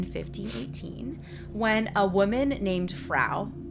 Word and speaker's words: Frau: So it began July in 1518 when a woman named Frau, I wrote rhymes with cow, but also reminds me of Frau from Austin Powers.